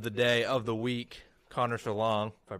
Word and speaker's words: Connor Schellong: And we have our superstar special guest of the day, of the week, Connor Schellong, if I pronounced that right.